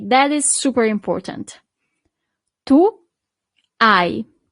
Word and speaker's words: hai: Tu hai. So you don't really pronounce the H at the beginning.